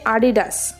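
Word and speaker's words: Adidas: इसका सही उच्चारण इसका उच्चारण गलत है इसका सही उच्चारण है एडिडास सवाल नंबर 10 क्या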